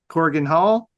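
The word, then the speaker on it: Korakuen Hall: But what happened December 22nd in Corrigan Hall? Corrigan Hall. I think I'm saying that right. Hurricane Hole. Corrigan Hall.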